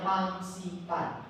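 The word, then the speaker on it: Fansipan: Gunung Pansipang. Gunung Pansipang. Cara bacanya Pangsipan.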